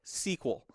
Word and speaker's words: SQL: day time you know current day people talk about sequel they just call it sequel it's its own word but know that it is an acronym it stands for structured